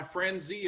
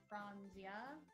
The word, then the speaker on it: Franzia: good value in this box and that's my frenzy a box of red dry red wine dad i don't want to be that bartender but i believe it's pronounced franzia franzia i'm just trying to help you win